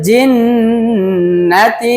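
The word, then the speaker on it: ٱلْجِنَّةِ: ওয়ান্নাস জিন্নার মধ্যে অনেকেই টানে কারণ জান্নাত যেটা উচ্চারণ হয় ওই জান্নাতের মধ্যে খাটা জবর আছে এক টানতে হয় কিন্তু জিন্নাতি এখানের মধ্যে কোন খাটা জবর নাই একসাথে কিন্তু গুন্না করতে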